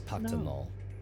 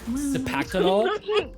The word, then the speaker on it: Cipactonal: Sipaktanol, he who was gifted with ears and tongue.